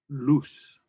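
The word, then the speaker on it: luz: Okay, in English we get a a hard Z sound. So even though you see the letter Z, we're not going to make it a hard Z sound. Thinking about an S sound here.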